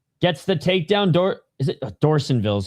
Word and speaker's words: Dorsanville: Is it Dorsanville is how they're pronouncing it, my bad.